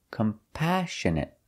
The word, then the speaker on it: compassionate: next word is compassionate we put the stress on the second syllable compassionate compassionate means you feel